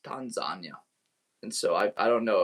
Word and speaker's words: Tanzania: Like I gotta be like when I went to Tanzania this summer, I always thought it was Tanzania. Till I went there, they pronounce it as Tanzania.